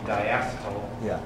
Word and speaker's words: diacetyl: That leads me to my first question, which was that reference in Laurie's presentation about the diacetyl, that's correct pronunciation, leading to the obliterans and the COPD.